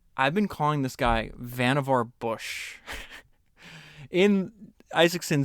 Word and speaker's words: Vannevar: been calling this guy Vannevar Bush. And Isaacson says uh he writes what I thought what I was reading is Vannevar and he says rhymes with beaver. It's Vannevar. Vannevar So it says um